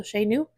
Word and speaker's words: Chez Nous: Like it's called Chez Nous, but it's spelled Chez, like Chez, and then Nous, because it's French, so Chez Nous.